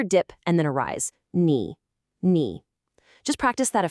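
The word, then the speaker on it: 你: A really common trap for beginners is that third tone on ni. Knee. It's not a flat sound like ni. And it's definitely not a question like ni.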